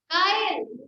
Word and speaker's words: chyle: काइल, spelling लिखनी है तो वो लिख लीजिए CHYLE, काइल।